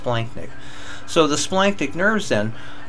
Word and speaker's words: splanchnic: Look, the CH is pronounced like a K, so even though it looks like splanchnic, it's normally pronounced splanchnic.